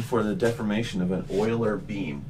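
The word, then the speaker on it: Euler: you look at an Oiler Beam by the way if you're into German that's pronounced Oiler like uh lanard Oilers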